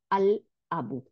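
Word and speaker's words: الْأَبُ: তাহলে এখন আল দিলে আল আবু, তাহলে আল, লামের উচ্চারণ করলাম।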